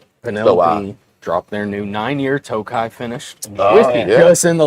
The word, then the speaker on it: Tokaji: It is spelled with a J in there. It is not Tokaji or Tokajai. J is silent.